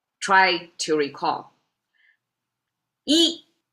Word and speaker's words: 一: Yi is the pronunciation, and it means one.